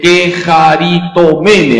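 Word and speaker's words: κεχαριτωμένη: la llena de Gracia en griego se dice kejaritomene a ver repitan queit y esa palabra que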